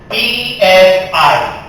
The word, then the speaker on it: psi: The pronunciation is PSI. P is silent.